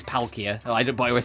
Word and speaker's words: Palkia: I still say pulia instead of palia, but that's like a lot more subtle saying pole instead of pal cuz it is palia.